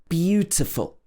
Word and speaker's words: beautiful: In this kind of situation, it's not normally a problem because the first syllable of the word is stressed. We say beautiful, not beautiful or beautiful. It should be beautiful.